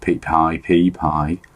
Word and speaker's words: Pi: presumably to make your Pi, which it turns out that's the pronunciation now, it's not P anymore, to make your Pi more comfortable.